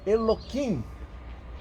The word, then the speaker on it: Elohim: Então eles põem, por exemplo, a gente ainda fala Elohim. Você vai para um judeu ortodoxo, ele diz Eloquim, para não pronunciar.